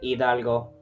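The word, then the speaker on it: Hidalgo: You you pronounce italgo.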